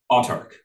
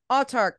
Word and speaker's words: Autarch: time or check out uh how do you pronounce the name of your company outtarc I'll talk I'll talk check out all Turk on drive through RPG